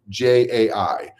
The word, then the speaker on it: Jai: created that to be my name j AI phonetically spelling the letter J Just J AI I